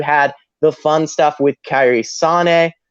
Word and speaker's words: Kairi Sane: You had the fun stuff with Kairi Sane, which that is the correct pronunciation of her name, and I'm never going to say Kairi Sane. Go fuck yourself, Drake. Go fuck yourself, Nigel McGuinness. But it's Kairi Sane.